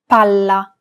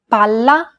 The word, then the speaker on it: palla: Pala, palla. Remember how Italian is a syllable-timed language? Imagine that you're holding that consonant sound for one extra syllable. Palla, palla.